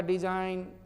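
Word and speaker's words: design: एन, एन देख रहे हो ना, एन, एन के पहले जी जब भी हो तो जी को साइलेंट कर दो भाई। अक्सर बोलता हुआ डिजाइन, एन के पहले जी है।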